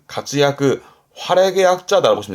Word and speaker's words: 活躍: 발음은 가츠야크, 가츠야크, 활약의 약자다라고 보시면 될 것 같습니다.